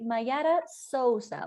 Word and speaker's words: Mayara Souza: Mayara Souza. Was that a correct Brazilian pronunciation?